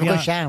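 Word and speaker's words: Quiévrechain: Direction le Nord, à Kievrechain, est-ce que je prononce bien? Kievrechain, oui.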